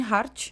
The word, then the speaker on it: Hart: Senhora Hart, já que a pronúncia do sobrenome Hart é a mesma pronúncia da palavra coração em inglês, que seria Heart.